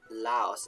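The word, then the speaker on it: λαός: word for human now there is a word laos and it is actually a long a which even when you're writing classical greek it's not often marked except on the most particular of people but yeah it is long a laos allows and that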